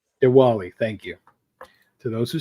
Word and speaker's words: Diwali: other holiday I do not know how to pronounce that uh Diwali Diwali thank you to those who celebrate Bob Fisher